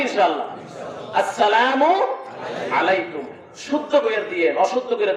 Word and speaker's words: আসসালামু আলাইকুম: আপনি যদি একজনকে বলেন সালাম আলাইকুম, আপনি যখন তোর সালাম আলাইকুম বলে তুই ঘরে গিয়ে ঘুমা বদমাইশ। সালাম দিতে হবে আসসালামু আলাইকুম হামজা আছে, সিন আছে, আইন আছে, উচ্চারণ করে লিখতে হবে, কারণ সালামের কথা কোরআনে আছে না নাই?